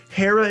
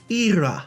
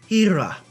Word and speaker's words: Hera: Technically, Hera is an acceptable pronunciation of this Greek goddess, wife of Zeus, but the preferred pronunciation is Ira, so I'm going to start pronouncing it Ira, because apparently that's the more preferred pronunciation.